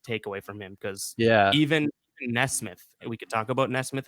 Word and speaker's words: Nesmith: And I think that was like my biggest takeaway from him, because even Nesmith, we could talk about Nesmith in a second. Even Nesmith or Neesmith. I think it's Neesmith.